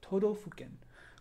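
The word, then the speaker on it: 都道府県: in Japanese it's called todofuken. They don't say prefecture, they say todofuken. And todofuken is a word that is made up of 4 other words. To, do, fu, ken.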